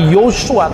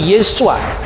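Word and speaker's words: ישוע: tapi ie ya Nah ketika itu diucapkan dalam bahasa aram bukan lagi Yosua tapi yesua ringan sensus pada abad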